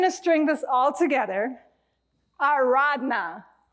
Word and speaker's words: Aradhana: Ardana.